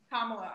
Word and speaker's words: Kamala: Kamala, I pronounced her name right.